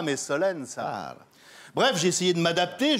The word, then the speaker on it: Solenzara: En Corse, on ne prononce pas la dernière syllabe des noms. Un Corse ne dira pas Solenzara, mais Solen ça.